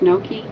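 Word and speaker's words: gnocchi: i guess you're behind oh pronounce no no cho no chi oh no key no key pronounced no key i'm always behind too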